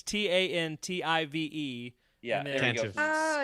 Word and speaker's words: Tantive: It's Tantive. Yeah, there we go. Tantive. Skooma Joe. Tantive. So Tantive is what it looks like. I Yeah. always say Tantavive.